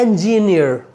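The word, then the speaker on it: engineer: अगला वर्ड है जिसका उच्चारण अक्सर लोग गलत करते हैं, इसको कहते हैं इंजीनियर।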